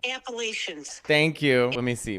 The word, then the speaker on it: Appalachian: they first of all where I come from we pronounce it appalachin you're joking right that's how you pronounce it it's the Appalachian Mountains that sounds fancy